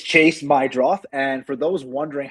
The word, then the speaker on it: Meidroth: Yeah, I thought it was Meadroff too. It's Chase Meidroff.